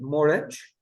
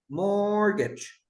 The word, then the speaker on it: mortgage: And with the T, okay, they are more common, like mortgage, mortgage, mortgage, fasten, fasten. We don't pronounce the T, okay?